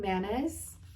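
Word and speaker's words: Mannaz: funny this one's called manas and it's ma nas kind of like mayonnaise but a fancier way of like pronouncing it um this meaning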